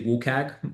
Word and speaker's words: WCAG: I just say WUKAG most of the time.